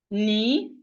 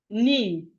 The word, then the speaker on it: knee: So we have knife, knee, knee. Knee starting with K, but the K is silent.